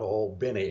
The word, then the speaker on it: Albany: The Viggies at the point were down in Naval Air Station Albany, and not many people knew about Old Binny. Notice I'm pronouncing Where's Albany, that at?